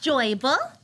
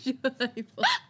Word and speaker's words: Joybull: My name is Joyble, and I got my name because people said I was cute like a Joyble, so that's my name. It's spelled J-O-Y-B-U-L-L. It's Joyble.